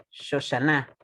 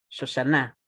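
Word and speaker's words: שושנה: Por eso ustedes tienen que pronunciarlo como Shoshana, Shoshana, en la última sílaba, ¿ya?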